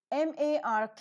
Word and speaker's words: mark: Only before the vowel sounds r is pronounced. So MARK, the letter r is present before a consonant k, and so it is not pronounced. So it is pronounced as mark.